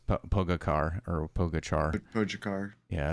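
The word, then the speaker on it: Pogačar: And I know Casey says Pogacar or Pogachar. Pogacar. Yeah, it's Pogacha. That's how you pronounce it.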